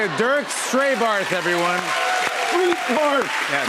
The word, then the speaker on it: Strétbarth: Street barf. Yeah, Pronounced street barf.